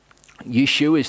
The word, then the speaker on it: Yeshua: Yeshua's name actually ends in an ayin, so technically his name is Yeshua. That's kind of, it's lost in the subtlety of pronunciation.